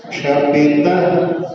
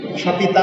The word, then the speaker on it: क्षपितः: सुवित्वया रतिपतिः क्षपितः क्षणेन, क्षपिता नहीं, क्षपितः, क्षपिता और क्षपितः अंतर समझ आ रहा है। क्षपिता में तो आपने इसके सामने विसर्ग की जगह पर डंडा लगा दिया, तो वो सही उच्चारण नहीं हुआ।